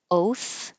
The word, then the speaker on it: oath: If you don't have airflow, oath will sound like oat with a t even if you don't hear the t oat like oatmeal. So this can totally change the meaning of this word.